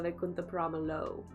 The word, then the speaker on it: Vaikunthapurramuloo: scene in Allu Vaikunthapurramuloo, or Ramaloo. Is that how you say it? Ramaloo? I always want to say Lu, because that's how we say L-O-O. But I'm pretty sure it's Allu Vaikunthapurramuloo.